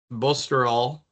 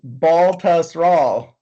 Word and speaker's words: Baltusrol: Bosterol. I'm never gonna say that. Congressional Kiowa Island, Southern Hills. It's so literally it's pronounced how it sounds. Baltusrol.